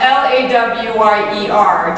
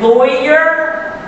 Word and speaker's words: lawyer: the first syllable of l-a-w-y-e-r does it rhyme with boy like lawyer or does it rhyme with flaw like lawyer I use both pronunciations